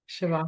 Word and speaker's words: Shavasana: It's a little bit like, please forgive my pronunciation, is it the Savasana? Shavasana? Shavasana. That's it.